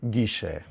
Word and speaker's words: Guille: Yeah, and I put here more or less how you should pronunciate our name, Guille.